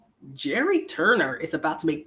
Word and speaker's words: Gerry: Turner, a 71-year-old grandpa from Indiana, whose first name is pronounced as Gerry, was unveiled as The Golden Bachelor's leading man